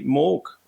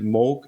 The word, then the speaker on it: Moog: hard so it's uh like MOG in Vogue this time because oh